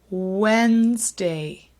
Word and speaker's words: Wednesday: take the train on Wednesday so listen to that last word again Wednesday you'll notice we typically do not pronounce the d just sounds like again